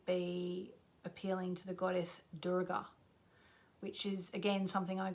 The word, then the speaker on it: Durga: And I say Durga because I've been taught there to say it properly, and that's how they say it, Durga. Like normally we might say Durga, D-U-R-G-A, Durga. I'm just doing what I'm told.